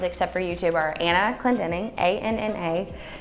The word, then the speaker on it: Clendening: for YouTube are Anna Clendening, ANNA-CLENDENING. It's super easy if you think about it phonetically, but yeah, most people call me Anna Clending, Anna Clendering, Anna Cleansing, Anna Clendening. But yeah, Anna Clendening, CLENDENING.